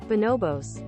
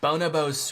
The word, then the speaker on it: Bonobos: I looked it up afterwards and it is not Bonobos. But that wouldn't stop me from mispronouncing it the entire time I played this game. I guess I need coins to buy some Bonabos sweatpants.